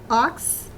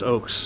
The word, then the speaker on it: Oaks: Ox? I believe it's Oaks.